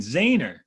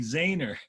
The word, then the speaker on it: Zener: the guy that developed the zener diode but he pronounced his name zainer so so my professor